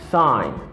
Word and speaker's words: sign: first one is is sign sign i say sign because the letter g a satellite and this word pasque legend in english it is pronounced as sai because the letter g is silent after that the common